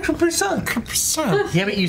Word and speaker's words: Capri-Sun: You're like, Capri-Son. I said Capri-Son. Capri-Son. But isn't it a Capri-Son like the commercial? Says it. I said Capri-Sun.